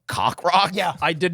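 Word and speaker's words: Coq Roq: 2005 slipnot sued Burger King claiming that you pronounce that cockrock okay that's what I thought cockrock a fictional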